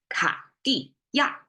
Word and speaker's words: 卡地亚: I find myself, but as a Chinese in our daily language, we'll probably say 卡地亚. But for you, I pronounce it really clearly. 卡地亚 is Cartier.